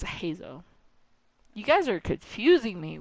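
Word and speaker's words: Heizou: Okay, and Heizo's spelled Heizo, but it's Hazo.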